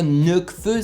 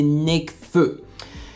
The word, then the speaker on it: Nekfeu: C'est pas Nekfeu, c'est Nekfeu.